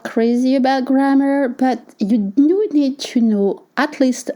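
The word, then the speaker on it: dans: You don't pronounce the consonants at the end of French words. You say D and it's spelled DNS.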